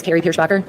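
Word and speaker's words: Kari Pierschbacher: state your name for the record today and spell it with reporter yes my name is kri pierer k a r i p i e r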